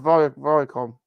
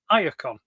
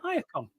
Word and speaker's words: Iacon: Vaults of Viacom. Iacon. Viacom. Mm-hmm. Yeah, Iacon. Very good.